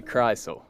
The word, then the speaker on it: Krisle: No, it's actually Krisle.